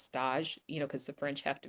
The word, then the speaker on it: stage: We called it in pastry school a stage, spelled just like stage, but only it's pronounced stage, because the French have to be different.